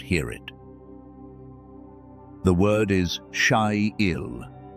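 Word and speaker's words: חיל: The word is Shyil. It is spelled with 3 letters in Hebrew, but in English it sounds like Hi-Yil, Shyil.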